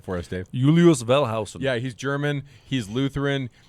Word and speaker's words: Wellhausen: So 1878, a guy, I'm going to say his name wrong. Julius Wellen, say it right for us, Dave. Julius Welshausen.